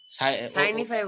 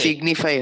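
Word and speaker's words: signify: সাইনিফাই বলছি। ও সাইনিফাই এটা বলছে, সিগনিফাই হবে। এটা সিগনিফাই। সিগনিফাই। এটা সাইনিফাই বললে কিন্তু, সিগনিফাই আসল প্রোনাউন্সিয়েশন।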